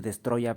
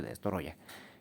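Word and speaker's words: Destoroyah: Que hay gente que le dice Destroya, pero no es Destoroya. Porque no, los japoneses no pueden decir Destroya, entonces dicen Destoroya. Entonces se escribe Destoroya y se dice Destoroya.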